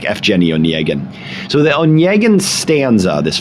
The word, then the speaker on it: Evgeny Onegin: writes is called Evgeny Onegin, or often it's pronounced in English Eugene Onegin, but that's not really right. It's something more like Evgeny Onegin.